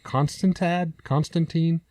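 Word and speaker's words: Constantino: I believe the last name is pronounced Constantine, something to that degree.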